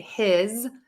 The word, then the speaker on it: his: that s okay so I'm going to say his with the Z and then hiss with an S okay his hiss his